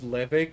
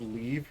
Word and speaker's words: leve: apparently they're not called leve quests, they're called leave quests.